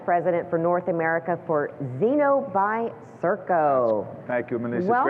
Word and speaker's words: Zeno: So I understand Zeno and, am I saying it right? Zeno is correct.